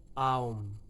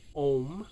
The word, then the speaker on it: Aum: It starts off, of course, as most mantras do, with Aum. A-U-M. Aum. You may know this word rampantly mispronounced as Om, which it's not.